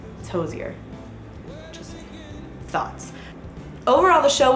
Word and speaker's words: Hozier: Hosier came on stage I also looked up how to say his name I know how to say his name and it is Hosier because his full name is Andrew Hosier Brin and he said it in an interview although he doesn't really care how people pronounce it but if you want to be correct it's Hosier Just Thoughts overall the